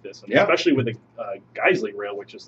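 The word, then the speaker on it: Geissele: of rails for the I really want to know how that's pronounced like actually. According to HKS, it's Guesley.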